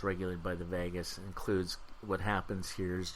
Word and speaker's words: vagus: is regulated by the vagus kind of like pronounced like Las Vegas but it's the AG us if you're interested in